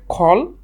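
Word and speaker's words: call: যদিও আমরা উপমহাদেশে এটাকে কল এবং কাম বলি, কিন্তু এটার শুদ্ধ উচ্চারণ হচ্ছে খল এবং খাম।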